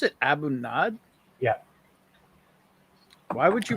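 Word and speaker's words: A'bunadh: how do you pronounce it Abu NAD yeah why would you pronounce it not because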